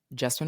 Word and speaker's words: Jessamyn: This is your host, Justin. Now, as you may know, my name rhymes with specimen, but with a J, and I am a